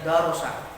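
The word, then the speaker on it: درس: Tulisannya darasa, bacanya darosa.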